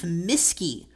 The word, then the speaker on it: Mueske: When I was little, I used to say, pretend you've got a teacher and her name is, and then change the accents.